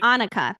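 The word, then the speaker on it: Anika: and I do think anaka am I am I pronouncing it right anuka I believe anuka thank you so anuka I do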